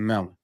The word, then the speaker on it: Melin: So shout out to Melon.